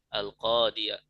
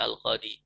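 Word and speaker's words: القاضي: Al-qadiyah. Ya, tidak dibaca al-qadi. Tapi al-qadiyah, ya-nya jelas.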